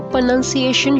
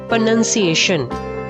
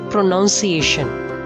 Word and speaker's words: pronunciation: Your pronunciation should be perfect. Perfect, not perfect. Perfect. R is silent. The next word is pronunciation, not pronunciation. Pronunciation.